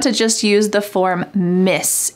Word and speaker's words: Ms.: So they want to just use the form Miss. It sounds the same as MISS, but it's spelled MS, Miss Vanessa.